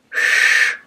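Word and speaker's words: Ш: And then we have letter sh, sh, sh, it's like in shampoo. The first letter sh, sh, like sh.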